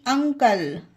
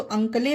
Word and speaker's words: uncle: UNCLE, अंकल। अब आप सोचेंगे कि ई है तो अंकले पढ़े, नहीं, अंकल।